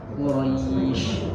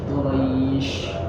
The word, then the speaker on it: Quraish: Shin itu dia bersifat tafashim dia. Quraish, Quraish. Jadi bukan is, tapi disebarkan ish.